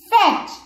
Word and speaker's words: fetch: The eighth word is fetch. F-E-T-C-H, fetch means to bring. Leke aana. The eighth word is fetch. F-E-T-C-H, fetch. In this, students, T is silent.